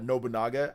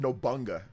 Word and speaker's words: Nobunaga: I'm not sure if that's going to be for every game, but I know Nobunaga's ambition. By the way, I love how Nintendo Prime said Nobunaga. I think he said Nobunga.